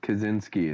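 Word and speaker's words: Kaczynski: he says kazinski someone says Spangler no it's kachinski I'm not saying it right this is America kazinski kazinski himself pronounced it kazinski it's America we we don't say kajin he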